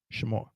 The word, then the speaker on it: Shamar: So this has to be 1 syllable. The only way for this to be 1 syllable is to get rid of that. Shamar. 2 syllables.